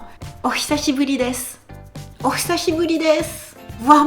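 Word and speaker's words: 久しぶり: Oh, hisashiburi desu ne. Donc là, c'est une phrase complète. Le mot important, c'est hisashiburi. Hisashiburi. Donc souvenez-vous les voyelles qu'on ne prononce pas.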